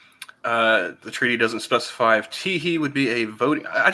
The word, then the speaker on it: Teehee: Kimberly Teehee. And yes, that is spelled exactly how it sounds.